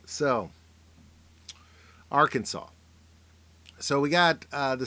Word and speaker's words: Arkansas: the motto is uh it's not pronounced Kansas it's not our Kansas and uh the capital